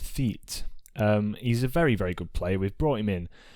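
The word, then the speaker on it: Théate: It's Arthur Theet. I believe it's pronounced Theet.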